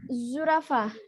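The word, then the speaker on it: zürafa: Nah, yang terakhir ada zurafah. Zurafah. Zurafah artinya jerapah. Zurafah artinya jerapah. U-nya jangan lupa bukan U yang biasa ya. U-nya ada titik duanya.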